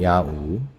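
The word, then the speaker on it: Nyaung-U: 저희가 있던 이곳은 야우. 제가 위에지도 띄어 드릴 건데요. 지도에는 낭우로 돼 있을 거예요. 근데 현지 발음은 야우라고 합니다. 고양이 야옹할 때 냐.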